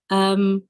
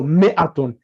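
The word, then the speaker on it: مائة: So it's pronounced ma. It's written ma'atun, but we pronounce it as mi'atun. Okay. Mi'atun 100. Alfun 1,000. Note that mi'atun, the alif is not pronounced. It is pronounced mi'atun.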